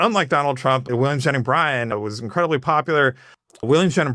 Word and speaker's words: Bryan: I used to, years ago, before I even studied it, I thought the lawyer's name was William Jennings Bryant, like the T.